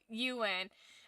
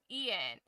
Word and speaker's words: Euan: And it it's not that I don't even know how to pronounce it's just that my brain wants to say Ian and it turns into which is I know it's wrong but it like it's I just I can't get it out.